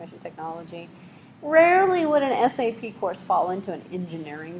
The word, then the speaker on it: SAP: And how to pronounce it? S-A-P. Spell it out. Believe it or not, I can't tell you how many people have referred to it sort of like a syrup. You know, it's sap.